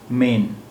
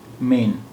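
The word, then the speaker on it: میں: तो अगर इसमें नुक्ता होता तो इसका उच्चारण, इसका प्रोनाउंसिएशन होता मेन, मेन, लेकिन नुक्ता नहीं है, इसलिए ये अंक की बिंदी का काम कर रहा है। ये मेन नहीं है, में है, में।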